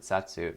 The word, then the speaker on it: 冊: They pronounce it satsu, but then when you only choose the one, it says sa. It's weird. As if it's a small tsu instead of a normal one.